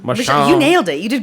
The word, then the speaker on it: Machon: Machon. Machon.